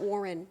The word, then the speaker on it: Warren: I have family that lives over in the Warren area. Okay, and that's how you know that I spent too much time in Ohio. It's Warren. It's not Warren. It's Warren. Warren, right? Syllable.